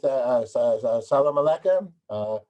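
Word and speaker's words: سلام عليكم: And how would I say salam alaikum in Arabic?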